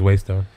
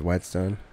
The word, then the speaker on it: whetstone: I think it's waystone. I think it's whetstone. I think you're a whetstone. You don't pronounce the H.